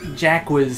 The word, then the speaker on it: Jacques: Person that pronounces it correctly. Jacques.